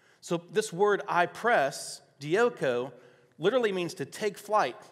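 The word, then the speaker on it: διώκω: it's uh it's dioko d-i-o-k-o pronounced dioco which literally means to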